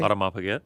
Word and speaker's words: Audemars Piguet: Mayweather, did I pronounce that correctly? Audemars Piguet.